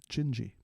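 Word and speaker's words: Didi: So, Antonio Carlos Jobim did a song called Gingy, and it's spelled D-I-D-I. But in Portuguese, you pronounce it Gingy.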